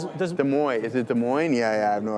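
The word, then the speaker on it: Des Moines: It's like I don't know how to pronounce it correctly. It's like Dez Moines or whatever is I think it's in Oh, in Chicago. Yeah. De Mo. Is it De Moines?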